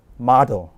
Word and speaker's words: model: 우리는 보통 모델 그러지만 영어답게 읽자면 미국 발음일 때는 model, 영국 발음이면 model 이렇게 읽습니다. 약간의 차이 있지만 힘을 어디에 준 것 같아요? 이 O에 줬습니다.